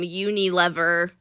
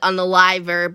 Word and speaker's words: Unilever: Unilever. Oh. I always like to call it Unaliver, but I think that's incorrect.